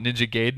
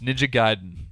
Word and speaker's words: Ninja Gaiden: giden correct all right from itagaki's mouth himself ninja gayen American fans call it ninja gayen and it bothers him because you just heard him all this Japanese and he was like M ninja gay ninja G um it's ninja giden I hope Moma syndo